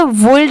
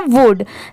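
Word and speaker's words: would: यू एल डी वुड अब जैसे यहां पर एल भी तो दिया हुआ है बट हम इसे वल्ड नहीं पढ़ते सिर्फ क्या पढ़ते हैं वुड जैसे सीओ य एल डी इसे हम कुड पढ़ते हैं डब्लू ओ यू एल डी इसे हम वुड पढ़ते हैं एस एच ओ यू एल डी इसे हम शुड पढ़ते हैं बट इन तीनों में तो एल दिया हुआ है है इसे हम कुड वुड शुल्ड क्यों नहीं पढ़ते क्योंकि यहां पर जो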